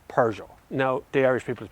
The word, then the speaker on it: Peugeot: It is Peugeot. We'll do, in case anyone from the UK is watching, okay, it's Peugeot.